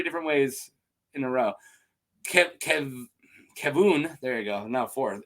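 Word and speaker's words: Kevan: Kavan, I pronounced it 3 different ways in a row. Kevun, there you go, now 4th, eventually married Dorna.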